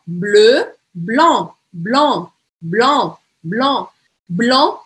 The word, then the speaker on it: blanc: Então, ó, bleu, blanc, blanc, blanc, blanc, blanc, eu não vou falar esse C no final.